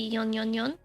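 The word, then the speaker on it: 四四四: I guess maybe a more correct pronunciation would be yon yon yon.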